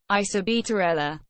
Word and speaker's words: Isabela: Isabela, Spanish pronunciation, isaɓβela, is a municipality of